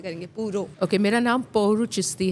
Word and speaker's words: Pouruchisty: चाहती है पहले तो लोगों को बताए हम प्रोनाउंस कैसे करेंगे पूरो ओके मेरा नाम पौर चिस्ती है लेकिन ए बडी कॉल्स मी पौर है